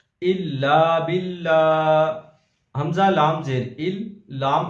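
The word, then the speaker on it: إِلَّا بِاللّٰهِ: अगला लफ्ज़ हिज्जे के साथ पढ़ते हैं, इल्ला बिल्ला, हमजा लाम जेर इल, लाम अलिफ जबर ला,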